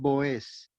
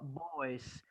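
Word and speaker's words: Βοόζ: Salmón de Genesen ton Boez. No, Boez. Observen la tilde sobre la Omicron.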